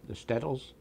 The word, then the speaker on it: shtetls: Those were the shtetls?